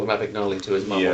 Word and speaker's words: Abagnale: Oh, I was remembering the way you don't pronounce it from the early scene with the teacher. Not Abagnale, not Abagnale, No, it's Abagnale.